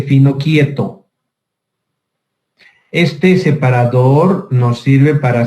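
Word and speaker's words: Finochietto: con el nombre de, se escribe Finocchieto, pero se dice Finocchieto.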